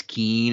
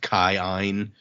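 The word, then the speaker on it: Kiin: of Aeons and so you say kind of both of the Aeon sounds which is why when we read like k-i-i-n is Keen it's actually like pronounced Kyan and somebody pointed out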